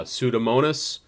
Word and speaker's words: pseudomonas: so something like uh pseudomonas is uh the p is silent and the s is pronounced same thing with pneumonia